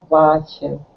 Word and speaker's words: watching: watching but watching ah watching that's it watching tving TV that's it so it's an open a w like father or that's it that's it